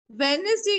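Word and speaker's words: Wednesday: का ध्यान से सुनना डब्ल्यू ई डी एन ई एस डी ए वाई D silent है डब्ल्यू ई डी एन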